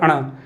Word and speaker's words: ण: जब हम इनका उच्चारण करेंगे क ख ग घ अण, बहुत से बच्चे अण बोलते हैं, फिर च छ ज झ अण, ट ठ ड ढ अण।